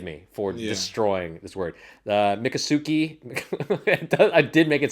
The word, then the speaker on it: Miccosukee: back to Seminole and Mukasuki. Okay. How do Native American. how do you pronounce that? I I made it sound like a Japanese word. How would you pronounce it? It's Miccosuke. So it's definitely a Native American word.